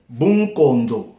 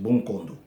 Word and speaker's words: Bunkondo: Bunkondo, c'est ça la prononciation, Bunkondo.